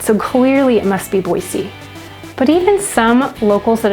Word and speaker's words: Boise: So some will say that there is no Z in it, so clearly it must be Boise.